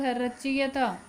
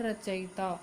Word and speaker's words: रचयिता: जाता है इसके बाद रच दिया था लेकिन शुद्ध उच्चारण इसका उत्तर रचयिता और इसकी शुद्ध वर्तनी